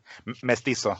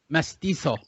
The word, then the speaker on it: mestizo: Mestizo, yeah. Mestizo. So the Z is an S, all right? Mestizo? Yeah, it's a sharp. It's like a strong S, pretty much.